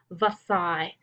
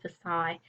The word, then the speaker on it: Versailles: there the Treaty of Versailles so I know it looks like it says the sale is or something like that it's a French word Versailles the elves and the